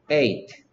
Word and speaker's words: eight: gh는 소리 나지 않을 때가 많아요. 그래서 스펠링 쓸 때는 선생님 틀리지 않으려고 gh 안 빠뜨리려고 쓸 때는 마음속으로 a, g, h, t 라고 쓰고요. 소리 내라고 할 때는 eight 라고 했어요.